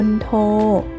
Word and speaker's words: มณโฑ: คำ ต่อ ไป นะ คะ มณโฑ อ่าน ว่า มณโฑ แปล ว่า มเหสี ของ ทศกัณฐ์ ใน เรื่อง รามเกียรติ์